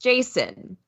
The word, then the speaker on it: JSON: I say Json but Douglas Crawford says it's pronounced Jason ARG is also for like argonut I have